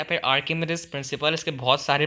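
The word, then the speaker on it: Archimedes: इसी तरह अब हम पढ़ेंगे अपना आर्चिमेडिस प्रिंसिपल या फिर आर्किमिडीज प्रिंसिपल। इसके बहुत सारे प्रोनाउंसिएशन हैं, आप इसको, मैं तो इसको आर्चिमेडिस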